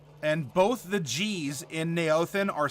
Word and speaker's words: Neothen: We have Saint Neothen, and both the G's in Neothen are silent. So just remember that. When you're pronouncing Neothen, both the G's in his name are silent.